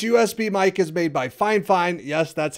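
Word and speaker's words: Fifine: start streaming this usb mic is made by fine fine yes that's how you pronounce it your next step would be to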